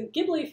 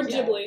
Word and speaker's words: Ghibli: Or Ghibli. Yeah. What do you guys pronounce it as? I say Ghibli. Ghibli? Ghibli's an old habit, so I know it's technically Ghibli, but I always forget.